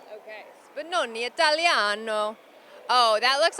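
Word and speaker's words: Spinone Italiano: How do you pronounce that? Spinoni Italiano. Okay. Spinoni Italiano.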